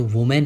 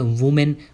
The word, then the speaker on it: women: Ladies होती हैं, जो वुमेन होती हैं, उसका प्लूरल होता है WOMEN। बहुत सारे लोग उसे वुमेन बोलते हैं, लेकिन उसे सही तरीके से प्रोनाउंस किया जाएगा विमेन, विमेन।